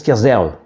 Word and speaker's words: Kerderf: Alors en breton, on prononce Kerzerve.